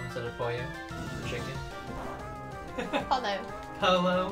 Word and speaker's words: pollo: Polo instead of pollo.